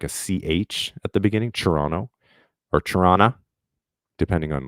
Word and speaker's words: Toronto: is subjective yeah it's Toronto not Toronto well actually we say Toronto not Toronto that's how we know that you're not from Toronto Wilfred because we don't pronounce the T we say or some